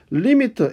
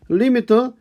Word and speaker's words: lim: 리미트 LIM이라고 쓰고 읽을 때는 리미트라고 읽습니다. 그렇죠? 뒤에 원래 LIMIT에서 IT 생략하고 LIM이라고 쓰면서 우리가 리미트라고 읽습니다.